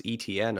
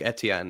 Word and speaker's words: Etienne: people pronounce it Travis ETN. I'm like I'm sure St. Etienne is the town in France like Etienne is is the correct pronunciation.